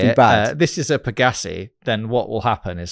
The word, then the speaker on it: Pegassi: I think you called it a Pegasus, which of course you meant Pegassi.